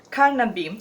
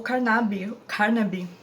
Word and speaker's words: Carnaby: Eu preciso falar pra vocês a senhorita Carnaby, ou Carnaby, como você quiser pronunciar, dos Trabalhos de Hércules, aqui do livrinho da Agatha Christie.